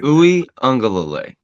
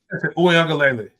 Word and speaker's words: Uiagalelei: Uiagalelei. Yes. Uiagalelei. You got to put it's two Lilis in there.